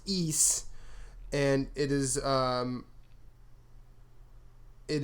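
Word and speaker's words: Ys: Googled it um it's uh it's PR it's pronounced e and it is um it is uh it's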